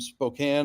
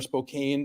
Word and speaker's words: Spokane: uh we're doing some spokane or spokane depending on how you say it um and uh